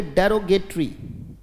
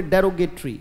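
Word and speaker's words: derogatory: बोलो शाबाश, पहले उच्चारण जरूरी है, बोले डेरो, वेरी गुड, बोले डेरोगेटरी, शाबाश, बहुत अच्छे, डेरो जी ए टी ओ आर वाई, बोले डेरोगेटरी, शाबाश, बोले डेरोगेटरी का मतलब बेटा अपमानजनक।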